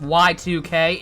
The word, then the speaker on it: YIIK: double this actually okay apparently it supposed to be pronounced y2k is it actually are